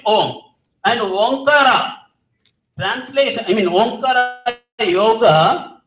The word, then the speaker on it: Om: When these two are united at the center of the forehead, what do you get? Ohm. Dr. Shanmugamurthy was correctly pronouncing it. First, we start with when you close your lips, what happens? M is automatically formed inside. M means silence. So you get Om.